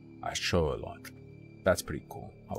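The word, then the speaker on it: axolotl: that the the amphibious creatures people call axotal are pronounced a show loock a show loock that's pretty cool I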